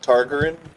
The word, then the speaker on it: Targaryen: You can't pronounce it. They say it all the time. What is it? Targaryen.